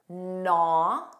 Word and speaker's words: gnaw: There are three words that start with a GN spelling that are somewhat common in English. Do you know what those are? Naw. Notice it begins on an N. Naw. This means to bite or chew something repeatedly. Commonly, an animal would do this.